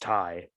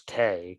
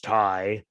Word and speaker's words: Tay: Apparently, it's pronounced Ty. I thought it was Tay because Tay, but apparently it's Ty.